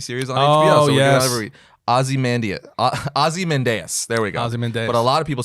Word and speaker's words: Ozymandias: That's how they say it in the show. That's how I'm going to say it. Ozymandias.